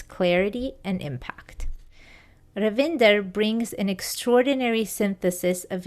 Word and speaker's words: Ravinder: First of all, Ravinder, welcome to the show.